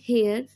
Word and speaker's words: heir: Okay, next example is he is an heir to his father's legacy.